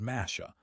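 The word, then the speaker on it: משה: Some scholars believe this phrase is a reference to the Hebrew word masha, meaning to draw out, which sounds similar to the Hebrew pronunciation of Moses, mash.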